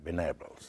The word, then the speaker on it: Venables: El apellido se pronuncia de una manera un poquito más sofisticada, Venables, ¿no es cierto?